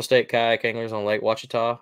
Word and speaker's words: Ouachita: Anglers on Lake Ouachita I almost say that wrong because I make fun of it and say it wrong on purpose I always say oh a cheetah just to mess with people and I almost said that right then but I got it right watch Tom uh 42